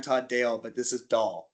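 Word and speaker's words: Dáil: By the way, I'm Todd Dale, but this is doll. It's pronounced doll.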